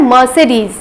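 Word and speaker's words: Mercedes: तो देख के आपको लग रहा होगा कि शायद इसका प्रोनाउंसिएशन मर्सिडीज होता है या मर्सिडीज होता है, बट इसका प्रोनाउंसिएशन होता है मर्सिडीज।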